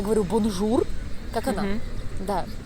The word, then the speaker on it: bonjour: это неправильно, да, надо говорить бонжур, и вот этот р, он как бы там у тебя застревает, да? Больше как х, да, бонжур.